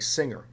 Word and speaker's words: singer: tell you the answer when a word ends in nger and it's derived from a verb that ends in mg then you get a soft g like singer but when the word that ends in nger is not derived from a verb that ends in ng then you get either a hard g like finger or a kind of medium g like plunger or danger now when you get